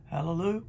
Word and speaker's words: hallelujah: praise is hallelu hallelujah hallelujah yh pronounced ya hallelujah in these 44 places that's what it is look them up for yourselves the hebrew word for praise is not always hallelujah but it is the